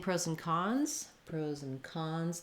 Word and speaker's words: pros and cons: And when I'm saying pros and cons, the stress falls on the last content word there, cons. So pros and is going to be a little faster than cons.